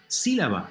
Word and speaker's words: sílaba: Sílaba, syllable. Third from last, it's esdrújula, and we know the rule.